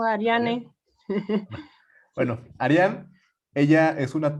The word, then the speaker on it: Ariane: Y pues también para presentar justo a Arián, ¿sí se pronuncia así, Arián? Porque no sé si... Ariane o Ariane. Arián.